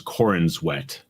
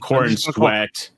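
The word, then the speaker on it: Corenswet: about believe I believe the pronunciation is Corin wet corn sweat thank you not corn sweat Mr SED I'm gonna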